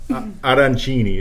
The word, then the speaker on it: arancini: Arancini. There you go. You got to roll the R. Arancini.